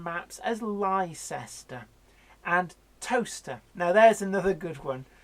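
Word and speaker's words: Towcester: another good one if you've heard of a place called toaster and you're looking for a place in the UK on a map there's spelt toaster think again you'll never find it because toaster is spelt Towe sester yeah it took me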